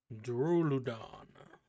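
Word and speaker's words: Duraludon: Duruludon.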